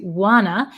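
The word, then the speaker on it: wanna: easy distinction because actually want to is contracted to Wana because we get rid of these T sounds and then two usually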